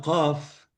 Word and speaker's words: qaf: Por eso, los sudaneses, por ejemplo, pronuncian la letra que se llama Qaf, que se parece a la Q en español, es más gutural, qaf, qa, como la ghain, un tono o un fonema no existe en castellano.